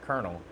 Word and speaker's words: colonel: spell it yeah cuz it looks like Colonel but it's like kernel it's just weird and it's different than like a popcorn kernel though right it's just not